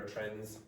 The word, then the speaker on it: trends: Okay, how did I pronounce that? Trends. Why? Why did it, what disappeared? What disappeared? The D disappeared. So you have N, D, Z, trends. And that disappeared because very often English native speakers will elide, so elision, so remove certain sounds.